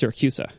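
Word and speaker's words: Siracusa: never actually answered the question did you it's pronounced syracusa um in it like I said in its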